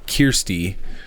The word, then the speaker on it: Kirsty: well, and my wife's name is pronounced Kirsty. But it's spelled Searsty. It's spelled Searsty.